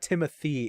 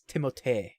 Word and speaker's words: Timothée: No, it's not Timothy, it's Timothée.